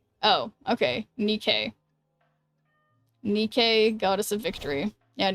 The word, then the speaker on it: NIKKE: Um, it's pronounced Nikke. Oh, okay. Nikke.